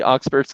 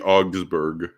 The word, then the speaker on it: Augsburg: oxburs i'm going through uh the oxford's confession i i know i butchered that pronunciation and the augsburg oh thank you and my dad's a